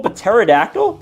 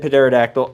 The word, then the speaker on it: pterodactyl: Is that an invisible pterodactyl? Yeah, I know. I said pterodactyl. I don't care. I know the P is silent.